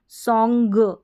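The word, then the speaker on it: song: के साथ इसका उच्चारण सोंग सोंग आधा न और ग प्रोनाउंस हो रहा होगा अगर आप सॉन्ग की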